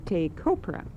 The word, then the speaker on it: Taychopera: And first, George, I don't know whether to pronounce it Taychopera or Taychopera. I can spell it because I'm looking at your paper. It's Taychopera, and the official title is Taychopera Foundation Incorporated.